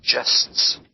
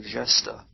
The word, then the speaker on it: gests: By the way, the word in line 2 is soft G. It's gests, as in gesture, or gesta. It's a French word.